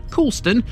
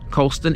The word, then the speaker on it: Coulston: Although written down, Coulston looks like it should be Coolston. Trust me, Coulston is how this one is known in the area.